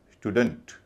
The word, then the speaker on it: student: हल्का का मतलब अ डी ई एन T don't पूरे शब्द को बोला जाएगा स्टूडेंट अब अगला शब्द सी ओ डबल एल ई